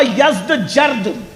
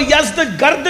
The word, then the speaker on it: یزدجرد: اس کا بیٹا تھا جس کا نام تھا یزدجرد. اس کو یزدگرد بھی کہتے ہیں ایرانی لب و لہجے میں، عربی میں یزدجرد کہتے ہیں.